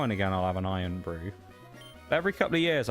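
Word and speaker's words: Irn-Bru: Iron Brew. You suggested it earlier, Shags. Actually spelled IRN. No, actually spelled as like iron. And then brew is BRU. A Scottish drink, hence why it's spelt like that.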